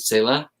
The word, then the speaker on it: Sala: Is that how it's pronounced? Sala?